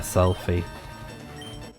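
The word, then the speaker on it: Selphy: just reading up stuff about this uh selfie. I think that's her name. It's spelled like um s e l p h y y as we saw.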